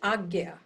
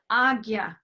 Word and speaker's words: Ajna: It's Agya. Agit. Agya. It's spelled Ajna. Yeah, but it's pronounced Agya. Agya chakra.